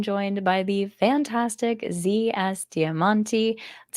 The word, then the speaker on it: Diamanti: By the Fantastic Zs damanti that's how you pronounce it right yeah just like that diamonti you know very Italian like Dam perfect and